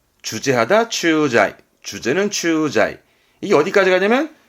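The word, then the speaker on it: 駐在: 그래서 발음은 추자이. 주제하다 추자이.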